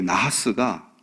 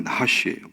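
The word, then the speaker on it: נחש: 이 나하스가 원래 발음이 나하시예요.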